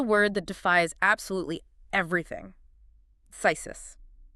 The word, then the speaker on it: phthisis: It is spelled P-H-T-H-H-I-S-I-S. Four consecutive consonants. Yep. It looks fundamentally impossible for a human mouth to articulate.